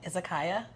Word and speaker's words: izakaya: Would you be like more of the izakaya?